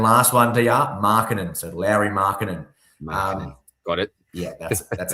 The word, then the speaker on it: Lauri Markkanen: So Lauri Markkanen. Got it. Yeah, that's how you pronounce it.